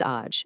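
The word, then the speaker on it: աջ: So right is aj, and it's pronounced just like it looks, aj.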